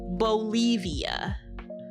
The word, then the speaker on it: Bolivia: You can pet Bolivia, which rhymes with Olivia.